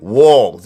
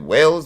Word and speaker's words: Walz: Now it's like, how do you say it? Is it whales? Walls. Walls. Walls.